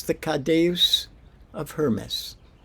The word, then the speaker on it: caduceus: How do you pronounce that? Caduceus.